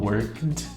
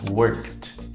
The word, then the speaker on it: worked: Eu não falo worked eu não falo worked com som de D mas sim eu falo com som de T worked worked certo o verbo dance